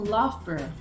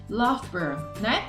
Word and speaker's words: Loughborough: Temos outros exemplos, como essa palavrona aqui, que vai ser pronunciada como Loughborough, Loughborough, E por último, Edinburgh, Edinburgh, tá vendo?